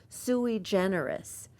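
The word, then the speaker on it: Sui Generis: out to everyone that I am pronouncing this correctly the name of the restaurant is suie generous that's how the owners say it and it doesn't spell like that but anyway suie generous is on burgundi down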